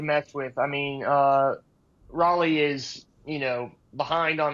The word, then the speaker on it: Raleigh: It's pronounced the same way as the city in North Carolina, my friend. Cal Raleigh.